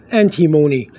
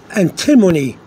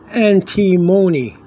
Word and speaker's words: antimony: chemical um for the elements name of anti antimony antimon it's like alamon but but antimon okay a n t i m o n y n antimony or antimony depends how you want to say it okay